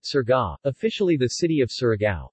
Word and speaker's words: Surigao: Surigao City, Tagalog pronunciation, Surga, officially the city of